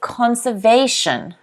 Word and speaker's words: conservation: good next word is conservation conservation if you look at this phonetic spelling you can see that the stress is on the they they conservation conservation can everyone say